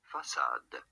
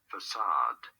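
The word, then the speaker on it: façade: word from french okay for reference in french it is said as facade okay facade in english however it is usually said as facade you do want to stress on the second syllable assad syllable okay so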